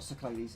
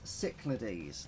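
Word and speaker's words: Cyclades: Oh no, it's not Cades. It's Cichlades. That's how it's pronounced.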